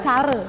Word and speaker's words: Care: Bacanya gimana? Cara.